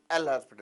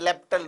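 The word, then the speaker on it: L'Hôpital: अब हम करेंगे using एल हॉस्पिटल rule. Using एल हॉस्पिटल rule, जिसकी राइट प्रोनाउंसिएशन है लेप्टल रूल.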